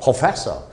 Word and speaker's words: professor: professor 프 다음에 알 발음은 없어집니다.